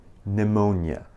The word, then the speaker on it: pneumonia: النطق الصحيح pneumonia. pneumonia. ما ننطق حرف P.